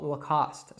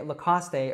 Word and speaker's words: Lacoste: we would actually call Lacoste. So make sure you don't say Lacoste or something like that. It's just like you could ask, what's the cost of the shirt? Lacoste.